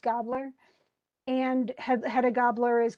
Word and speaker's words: Gabler: gobler and it actually I think it's actually gabler it looks like that but it's it's spell it's pronounced gobler and head a gobler